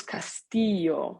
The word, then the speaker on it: castillo: Annoyance spikes through me as I repeat the word long and slow, pronouncing the double L like an English Y, just as I learned from my Spanish minor in college.